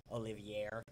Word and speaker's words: Olivier: His name is spelled Olivier, so it's actually Olivier. We call him Oliver.